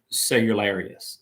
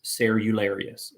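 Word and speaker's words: Cerularius: and in 1054 uh the patriarch of the cosmopolitan of constantinople michael cellularius sarularius is how you say his name so patriot michael was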